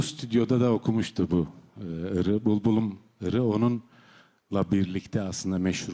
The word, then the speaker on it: Булбулум: Bu bülbülüm, bulbulum diye telaffuz edilir Kırgız Türkçesinde.